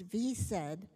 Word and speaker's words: VSED: for questions the SED which is often pronounced V said stands for voluntary stopping